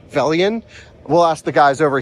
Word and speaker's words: Velion: I always say Volion, but it's Velian.